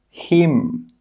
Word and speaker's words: hymn: The letter N is normally not pronounced when it's after the letter M at the end of a word. Some example words are column, autumn, solemn, condemn, hymn. In all of these words, we are not pronouncing the N.